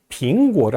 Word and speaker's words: 苹果: 빙안, 평안하다라고 할 때 빙이라는 발음과 사과의 빙이 동음이에요.